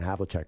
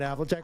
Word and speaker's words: Havlicek: The way it's spelled Havlicek, it should be Havlicek.